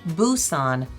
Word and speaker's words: Busan: Up until the year 2000, the city was spelled and pronounced Busan, but now it's officially Busan with a B.